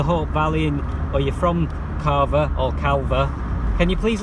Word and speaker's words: Calver: in it, but I've always known it as Carver, like it's a silent L, but she's convinced it's called Calver, that that you actually do pronounce the L.